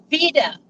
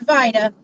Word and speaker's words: Vida: This is a little town called Vida, spelled like Vida, like Van Vida Travels. But this is pronounced Vida.